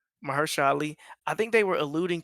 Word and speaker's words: Mahershala Ali: How do you pronounce his name? Yeah, you said it right, Mahershala Ali. Mahershala Ali.